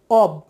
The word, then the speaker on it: of: প্রথম শব্দটি হচ্ছে অব। আমরা ও এফ কে অফ বলে অভ্যস্ত, অফ, সেই মান্ধাতা আমল থেকেই শুনে আসছি অফ, বাট সেটার সঠিক উচ্চারণ হবে অব, ও ব, অ ব, অব।